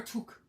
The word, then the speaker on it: toque: Is it a tuk or tuk? Tuk. How do you spell it?